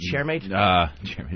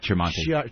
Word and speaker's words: Tremonti: And I got a plea from Sanctuary Records, Kevin, how do you say, is it Chairmate? Tremonti.